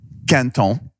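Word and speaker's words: Quinton: First, it's called Canton. Canton. That's the French pronunciation.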